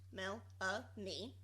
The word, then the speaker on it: Melanie: she says hi friends my name is Melanie pronounced Mel a me I would just like